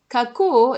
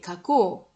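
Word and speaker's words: 書こう: Donc, kakanai, kakitai, kaku, kake, kako. Alors ici, ko plus u, ça ne se prononce pas kou, ça se prononce ko.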